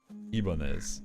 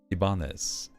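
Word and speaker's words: Ibanez: a Japanese one then I'm going to keep pronouncing it Spanish cuz that's the True Heart of the corporation I don't care what the the Japanese say if it was originally ibanes yeah that's how I'm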